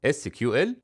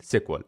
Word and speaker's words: SQL: مع الوقت ولحد النهارده الناس بتنطقها بطريقتين في ناس بتقول اس كيو ال وناس بتقول سيكوال والاثنين صح ومع انتشار الريليشنال داتا